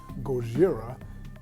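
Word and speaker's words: ゴジラ: This is a shout out to all of my folks who love stuff like Godzilla, aka the proper pronunciation from Japan is Gojira.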